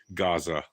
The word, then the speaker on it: Gaza: years if not ever it's Gaza with a G Gaza yeah it's been around longer